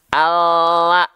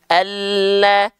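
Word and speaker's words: لام: maka ketika kita lafalkan bukan all bukan l all tapi Alla dari segi bunyi pun mereka berbeda Oke sip ya lanjut lagi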